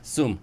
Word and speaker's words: Soom: Soom is a much easier, just think, yeah, Soom.